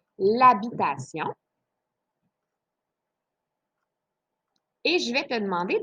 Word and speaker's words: habitation: Alors ici, tu as habitation, c'est un H qui est muet, donc tu peux faire l'illusion, ça deviendrait l'habitation.